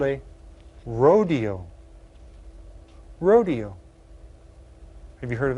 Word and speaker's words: rodeo: It's called a rodeo. Rodeo. Have you heard of that? Well, that word came from Spanish, and in Spanish they pronounce it rodeo. rodeo.